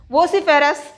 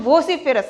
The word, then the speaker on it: vociferous: word for this syllabus vosiferas that is the pronunciation vociferous not necessary for peres the